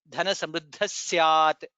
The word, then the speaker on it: धनसमृद्धः स्यात्: Samruddha Visarga followed by Syat. Sa. Again additional sakara comes. Dhana Samruddha Syat. That's how it is pronounced.